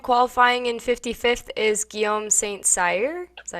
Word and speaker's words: St-Cyr: Yeah, and qualifying in 55th is Guillaume St-Cyr. Is that how you say it? Yeah, St-Cyr.